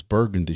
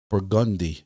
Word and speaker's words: Burgundy: that's right here um some of y'all would call this burgundy street but this is actually called burgundi street so on burgundi street